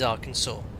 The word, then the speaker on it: Arkansas: was wondering this well why is Arkansas not pronounced Aransas that's probably a YouTube video about it but it is Arkansas number two what Runway